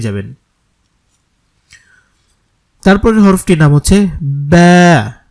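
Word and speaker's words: باء: তারপরের হরফটির নাম হচ্ছে বা এটা দুই ঠোঁটের ভেজা অংশ থেকে উচ্চারণ করতে হবে বা এক আলিফ টানতে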